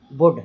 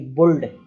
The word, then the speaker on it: would: तो देखिए लिखा हुआ है पहला वुड, अब इसमें WOULD, तो अब इसमें एल साइलेंट हो रहा है, हम पढ़ रहे हैं वुड ना कि बुल्ड, है ना, वुड, वुड, तो